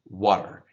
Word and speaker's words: water: Not right in front, not right behind your teeth, a little bit back, a little softer, water. And that's just because of the speed of saying it, we get lazy. So planted, so that does get pronounced, the T, by streams of water, water. If you say it like that, you're correct.